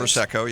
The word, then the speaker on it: Prosecco: Prosecco, yeah.